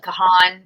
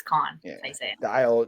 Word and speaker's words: Kahan: okay yeah k-h-n yeah it looks like Kahan but it's Khan dial drunk yeah that's